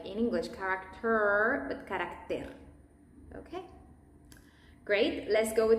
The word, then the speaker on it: carácter: In the Spanish pronunciation, it's more flat. Character, carácter. And be aware with the T's, always.